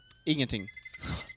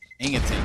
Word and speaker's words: ingenting: Ingenting. Ingenting.